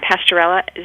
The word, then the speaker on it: Pasteurella: know if a kitten had for example a pronunciation campy campylobacter infection or pasterella bacteria it's campylobacter you you got it right and pasteurella so these are not things that i would